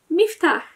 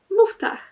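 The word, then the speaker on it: مفتاح: Podobnie jest ze słowem klucz, które w standardzie języka arabskiego brzmi miftach, natomiast w dialekcie egipskim mówi się muftach.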